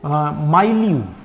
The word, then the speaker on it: milieu: चलिए, नेक्स्ट वाला वर्ड आप देखो, माइल्यू। अब कुछ लोग इसको मिल्यू भी बोलते हैं। ठीक है, इसको आप प्रोनाउंस कैसे कर सकते हो?